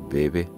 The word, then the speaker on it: bebe: En varios países americanos, este sustantivo ha desarrollado una forma femenina, a la par que una pronunciación llana: bebe, beba.